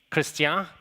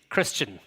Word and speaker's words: Christian: here it may be christian excuse my accent if that's okay uh in ireland our pronunciation is christian it's more flat our accent is not